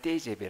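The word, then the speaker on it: TGV: 온 약자의 요 그래서 우리 먹히지 v 그 발음을 떼제베 라고 해요 브루 식 발이 미 근데 이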